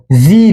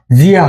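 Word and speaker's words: じゃ: এখন আমরা শিখবো জি দিয়ে। জির উচ্চারণ, এটা উচ্চারণ জিয়া হবে না, এটা উচ্চারণ হবে জা জা।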